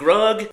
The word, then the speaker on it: Grug: Grug rhymes with slug.